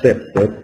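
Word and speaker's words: CPTED: El CEPTED, la prevención del crimen del diseño ambiental, es la traducción al español de un acrónimo del inglés que se pronuncia CEPTED, que quiere decir Crime Prevention Through Environmental Design.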